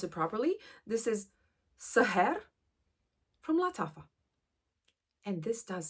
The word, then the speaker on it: Sahar: Now, let me pronounce it properly. This is Sahar from Lattafa.